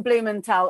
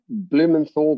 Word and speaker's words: Blumenthal: first podcast is the one and only heston blumenthal ob now before i get into all your